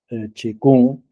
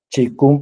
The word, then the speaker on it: Qigong: Para los que no conozcáis el término Qigong, se compone de dos ideogramas, el Qi y Kung. Se escribe Qigong, la grafía es distinta de la pronunciación.